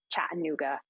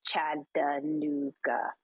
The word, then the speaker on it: Chattanooga: the boiler room boys just told me not to say chattanooga it's chad da nooga or whatever i don't know how